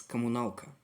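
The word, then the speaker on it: коммуналка: It is pronounced as Kommunalka.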